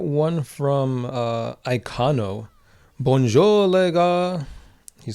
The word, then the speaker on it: gars: Bonjour, les gars. He says, he spells it G-A-R-S, but the R and the S is silent in French.